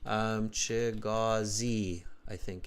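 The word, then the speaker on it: Chigozie: Chigazi, I think is the better pronunciation.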